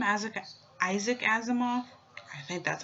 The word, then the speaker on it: Asimov: name as a Isaac Asimov I think that's how you pronounce his name well anyways let's see